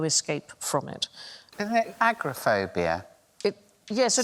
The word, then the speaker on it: agoraphobia: wide open spaces and I said agrophobia and they assured me it was agoraphobia they're wrong but everybody says agrophobia everyone says seven words